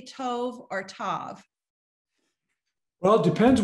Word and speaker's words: tov: it's a holeman hebrew usually pronounced as a long o so tov is the proper to